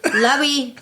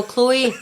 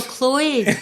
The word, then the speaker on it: Chloe: say my name and they'd say Levy lovey lovey and I'm like no Chloe they're like Chloe I'm like no Chloe and then I started